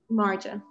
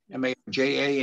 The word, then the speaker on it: Marja: First of all, Mara, how do you pronounce your name? Marja. M-A-R, I have J in front of me. M-A-R-J-A, and you pronounce it what?